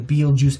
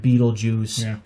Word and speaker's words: Betelgeuse: star from orion and beetlejuice together because it actually is pronounced as you know pretty much like saying like beetlejuice well it smells like